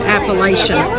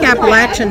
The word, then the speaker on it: Appalachian: Appalachian. See, I think that's the proper way to say it. All my life I've said Appalachian, but I think Appalachian is correct.